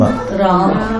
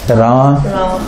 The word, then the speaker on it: Rama: Ram. Or Ram. Ram. Ram. Ram. Ram. Is it Ram? Ram. Ram, then it should be written like this. Ram. Yes. But do we write it like this? No. Do we write it like this? Yes. Yes. So then you have to see the long A. Rama. Rama. Rama. Rama. Rama. Rama. Hare Hare.